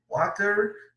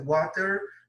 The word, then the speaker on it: water: Vamos lembrar que a pronúncia water, eu estou pronunciando aqui de modo britânico, né? De modo americano seria o quê? Water, water. A tendência do americano é puxar o T para R.